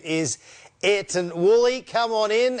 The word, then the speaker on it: Ayrton: When I look at it, it's spelt Ayrton, but it's really Ayrton. Did I get that right?